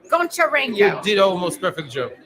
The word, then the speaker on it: Goncharenko: I'm going to try really hard to pronounce his name right. Oleksii Goncharenko. Goncharenko.